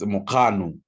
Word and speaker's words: Mokgano: It's Mokgano. It's the KG. It's together.